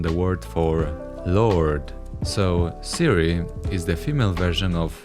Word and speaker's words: Ciri: Cyrilla, or Siri, isn't pronounced this way originally. Now, I'm gonna leave the judging to you, but in Polish, it's Cyrilla and Ciri.